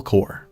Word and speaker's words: Corps: But that last word is core, pronounced like apple core. The way you said it, it means dead body.